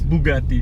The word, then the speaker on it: Bugatti: Anyway, we're off to Bugatti. Let's hit it. Where are we really heading this morning? Bugatti! Hey! Yes, Bugatti. We're heading to Bugatti. It's not Bugatti. Well, how is it? It's Bugatti.